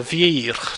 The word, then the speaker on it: vieillir: Notice how the double L, you don't actually pronounce it. Je vieillis, tu vieillis, il vieillit, nous vieillissons, vous vieillissez, ils vieillissent. You don't pronounce the double L.